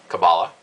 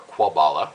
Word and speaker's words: kabbalah: mysticism in the east kabbalah or kwabala depending on how you want to pronounce it was considered jewish mysticism